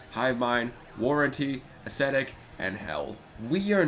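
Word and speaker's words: H377: get to songs like hell which is pronounced H 377 kind of like kind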